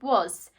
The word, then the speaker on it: was: so we know that even though we pronounce it with an o we actually use the a graphing the letter a was and again i'm pronouncing it with an o but i'm using the letter a to write it was the swan white